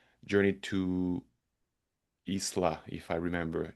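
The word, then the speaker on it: Ixtlan: is called Journey to Isla, if I remember. It's written in like IXTLA, but it's spelled like Isla.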